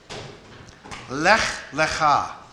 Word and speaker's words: Lech Lecha: Lech, Lecha is what those two words are pronounced like, and they mean go for you.